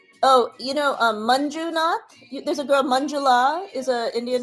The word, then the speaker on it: Manjula: There's a girl, Manjula, is an Indian name. Manjula is... It sounds like M-U-N, Mun, but it's actually M-A-N. Manjula.